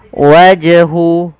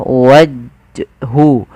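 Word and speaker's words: وجه: dipantulkan waj wajhu wajhu Sama kesalahannya tidak boleh apa yang pertama tidak mantul itu kesalahan wajhu yang kedua menambahkan Hamzah waju waju ini nambah kemudian hya harus diperjelas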